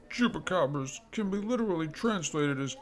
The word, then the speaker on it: chupacabras: oh chupacabra or chupacabras Spanish pronunciation chupacabras literally Goat Sucker from